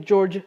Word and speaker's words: George: can be something like George because George is written with a with a G but it's pronounced j instead of G so it's going to